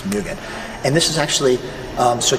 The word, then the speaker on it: Mugen: and it's pronounced Fuu Mugen okay so don't pronounce it Mugen only Dan which is the way I used to pronounce it but it's Mugen and this is actually so t ohan design